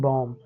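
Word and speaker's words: balm: तो CAM कॉम, PAM पॉम, BAM बॉम।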